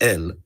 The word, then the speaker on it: El: to a god is uh pronounced el this that this is pronounced el before the mass reads we